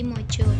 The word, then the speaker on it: Maja: Semangat Pangeran Diponegoro itu sampai pula kepada salah satu tokoh agama Surakarta yang bernama Kiai Maja atau Kiai Mojo dalam pelafalan Jawa.